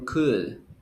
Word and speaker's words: could: you pronounce cold or could cool cool cool cool say good you don't pronounce the l yes next one adolfo